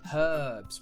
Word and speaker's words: herbs: for them right now herbs we pronounce the h i knew that i